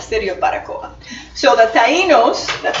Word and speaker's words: Taínos: So the Taínos, that's how it's pronounced, were pretty much, they thought the Spaniards